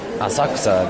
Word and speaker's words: Asakusa: saw the neighborhood ran the two names are written using the same Chinese characters but pronounced differently since all being the Chinese pronunciation Asakusa being the native Japanese what did someone